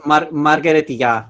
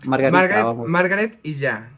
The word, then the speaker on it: Margaret y Ya: Wait, I'm saying it wrong. It's Margaret y ya. Margaret y ya. I love it. A lot of people who speak English think it's like a gag on Margarita, but it's Margaret y ya.